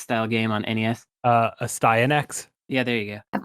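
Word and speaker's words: Astyanax: game on nes uh a stye in x yeah there you go i've always wondered how to pronounce that i have a vhs from jaliko that it pronounces it so it's a stein x nice thank you it's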